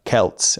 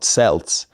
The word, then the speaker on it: Celts: And then you learn that uh the populations that invaded those regions were uh Celts and not Selts.